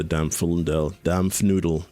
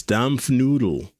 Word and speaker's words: Dampfnudel: I think they want the Coolidge more than the Dampfundel. Dampfnudel. I was saying it wrong. It's not Dampfundel. It's Dampfnudel.